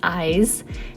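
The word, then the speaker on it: Ize: press on Twitter and ask them how to pronounce their name I was never sure but they did confirm its eyes uh their Tick Tock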